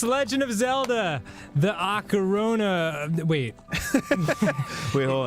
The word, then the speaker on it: Ocarina: know if I do say Ocarina it is Ocarina just just so we're clear it's words have correct pronunciations it's Ocarina at all so we we